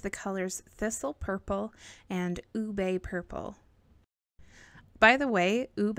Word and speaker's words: ube: I was pretty sure it was pronounced ube because ube was just a little too weird, but I was right, and it is pronounced ube, and it's still a weird word.